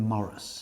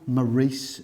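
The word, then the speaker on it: Morrice: There is no way that be pronounced anything other than Morris. Correct. It can't be Maurice Street. You're right. It's simply Morris Street.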